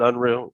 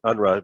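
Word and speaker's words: Unruh: head of dfeh is we enforce the uh unru civil rights act some people call it unreal civil rights act but i i i i believe the correct pronunciation is unrun named after jesse under the state legislature civil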